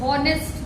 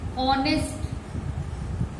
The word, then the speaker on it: honest: ऐसे ही ऑनेस्ट होता है, होता तो स्पेलिंग हॉनेस्ट की है, HONEST, लेकिन उसको प्रोनाउंस करते हैं ऑनेस्ट।